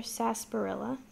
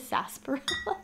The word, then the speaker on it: sarsaparilla: hole sodas snake river sarsaparilla they spell it sarsaparilla that's how it looks and it's supposed to be pronounced as saseboro it's probably said then there's a bucket